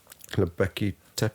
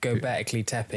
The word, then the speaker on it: Göbekli Tepe: Because how is it pronounced? Göbekli Tepe. Göbekli Tepe, That's yeah, it.